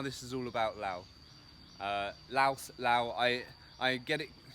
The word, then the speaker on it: Laos: to say it is laos to protect to pronounce the s it is the correct way to say it in english but i keep i